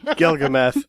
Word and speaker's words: Galgameth: Galgameth.